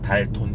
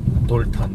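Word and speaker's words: Dalton: 스펠링은 달톤 이렇게 써 있지만 돌턴 이렇게 읽죠.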